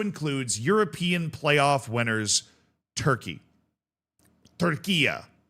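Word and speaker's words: Turquía: Turquia, as they will be called during the course of the World Cup, right? So that's the local pronunciation there.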